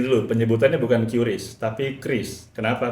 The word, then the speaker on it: QRIS: kita membenarkan lagi ya pron berarti Kris ya yang benar pronunciation yang benar Kris gitu tapi bukan keris ya bukan memang sengaja dibuat se-Indonesia mungkin makanya QRIS dibaca keris kayak ee senjata oh kayak